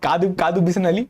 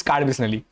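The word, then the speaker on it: Kadubeesanahalli: That's not Kadu Bisnali, which I used to pronounce. It's Card Bisnali.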